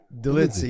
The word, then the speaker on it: Dolidze: Dolidze, yeah.